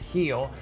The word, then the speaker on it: Gil: name is louise heal looks like gil it's pronounced heel and he's been pitching